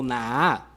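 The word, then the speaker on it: נָהָה: En el hebreo se pronuncia o se escribe como Nahah, N-A-H-A-H.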